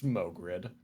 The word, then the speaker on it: Mogrid: never heard his name pronounced, it's Mogrid.